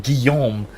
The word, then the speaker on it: Guillaume: deliberately and carefully pronouncing Guillaume because that's that's how that's how that's a French name and that's how it's pronounced.